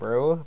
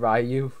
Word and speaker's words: Ryu: Now, I know it's been said Ryu many times, but apparently it's supposed to be said Rue. I'm not sure if it depends on the location, but understand that I'm not saying it wrong.